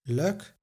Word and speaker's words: lijk: Indeed, the schwa is also present in the unemphasized ending lijk, pronounced as luk, and ich, pronounced as ugh.